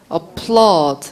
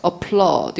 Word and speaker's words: applaud: applaud, applaud. 이것도 소리가 액센트가 뒤쪽에 있기 때문에 applaud밖에 안 들려요.